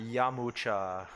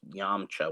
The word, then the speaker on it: Yamcha: u a r yeah and also like yamcha like with the u in there yamucha yeah that like that's how they say it in japanese but i think in chinese it's just yamcha with no you um but whatever um